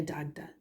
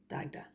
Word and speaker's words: Dagda: Ahar Gia Dagda. So Dagda is a specific god. Gia is the word for God, and Ahar is the word for father. So Ahar Gia Dagda, father god, Dagda.